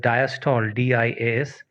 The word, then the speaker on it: diastole: ठीक है, similarly there is another term called diastole, DIASTOLE, and diastole stands for the relaxation of heart.